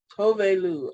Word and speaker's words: Tove Lo: but me too apparently it's tobay lou tove lou i thought it was toddler i i pronounced it as tovo all these years but it's overlooked and